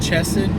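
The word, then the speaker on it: hesed: word is almost untranslatable the word is hesse sometimes pronounced chested by other people and it means steadfast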